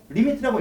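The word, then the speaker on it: lim: 우리가 림 이렇게 읽으면 안 되고 리미트라고 읽어주면서 이때 우리는 표기를 어떻게 하냐면 여기다가 x를 표시해줘.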